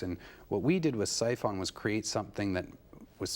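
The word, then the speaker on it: Psiphon: do I pronounce it siphon siphon it's spelled PS i p h o n silent P we put it there I thought it was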